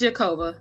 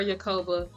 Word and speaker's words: Jakoba: is when o yakoba is it yakoba or jakoba it's jakoba jakoba okay cuz I know in one uh excerpt he pronounced it the other way is that right he calls her Yoba but her name is jakoba yes yeah she's in